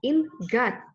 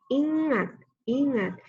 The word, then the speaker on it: ingat: n&y kita bunyikan Eun Jadi dibacanya bukan in god tapi ingat-ingat ih mati2 gitu pula